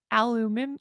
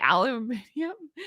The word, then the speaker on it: aluminium: Although you weird Brits pronounce it wrong and say aluminum. What do you say? Aluminium? It's aluminum. It's aluminium. No. It's aluminium. Aluminum. No, listen. There are English words, but pronounced different by Americans. But they're English words. I know. It's just funny. It's aluminum. Well, you know what? Aluminum. See, it's much easier to say.